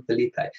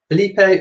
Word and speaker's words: Felipe: sure to be fair, is King Felipe pronounced Felipe or Philippe? Felipe or Philippe? I did find a YouTube video where it was mentioned as Felipe, and that was on a newsreel. So I went with Felipe, but if it's Philippe, let me know.